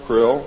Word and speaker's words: Krill: His name and title was His Omnipotent Highness Krill, pronounced Krill, spelled K-R-L-L-L or C-R-L-L-L.